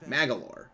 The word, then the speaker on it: Magolor: So that's how you say his name, Magalore.